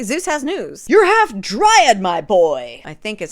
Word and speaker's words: dryad: verah Valentine anyway Zeus has news you're half dryad my boy I think is how you say it dryad oh my God I got it right back